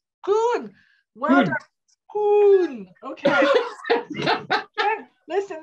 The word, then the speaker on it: Koen: Kuna. Koen, well done.